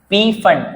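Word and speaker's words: Pfund: Lyman बामर passion bracket पी फंड पी फंड को फंड भी बोलते हैं पी साइलेंट है ये लाइमन है लाइमन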